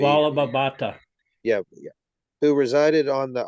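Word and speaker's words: Vallabha Bhatta: Vallabhabhata.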